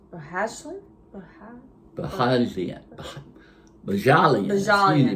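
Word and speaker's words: Bohjalian: Chris Bahajalian. Bahashlin? Bajalian. Excuse me, Bajalian.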